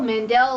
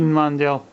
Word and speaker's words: Mandel: Emily St John Mandel Mandel like Howie Mandel I don't know could also be uh Emily Emily could also be Sinjin Mandel could be I guess